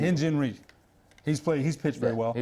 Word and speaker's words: Hyun-Jin Ryu: Hyun-Jin Ryu. Hyun-Jin Ryu.